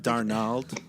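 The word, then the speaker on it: Darnold: to do with it it's pronounced Darnell we were I think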